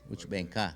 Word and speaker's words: Uchbenka: Well, that I can't say it because when I grew, I heard that's how they say it, which benka.